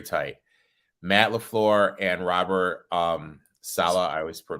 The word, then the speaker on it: Saleh: Matt LaFleur and Robert Saleh, I always say his name.